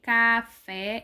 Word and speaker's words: café: Então, a sílaba mais forte de café é a última.